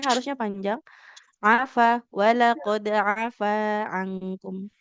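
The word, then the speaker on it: عَفَا: Afa, wala qad afa ankum. Nah, fa-nya dua harokat karena fathah bertemu dengan Iya, alif. alif.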